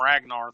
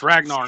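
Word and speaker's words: Ragner: The funny thing is, too, is like Ragnar is spelled R-A-G-N-E-R, which seems to me it's read Ragnar, but they clearly call him Ragnar throughout the entire movie, so whatever.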